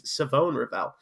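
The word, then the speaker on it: Shavon Revel: But Savone Ravel from East Carolina. I had to double check that pronunciation. It's Savone Ravel. even though there's an H.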